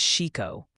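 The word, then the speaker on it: Chicot: They're passionately confirming Ouachita is Ouachita after you bravely waded into that hornet's nest of vowels, and that Chickett County is Chico.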